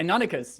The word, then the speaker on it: Deinonychus: And they are comparable to, and please, Serial, correct me on the pronunciation of this, of a Deinonychus? Yeah. Deinonychus, yes.